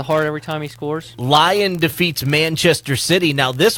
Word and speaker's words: Lyon: Lyon. Lyon. It's French. It says Lion, Lyon, Lion. Yes, We're in America. We're going to French. pronounce it the American way.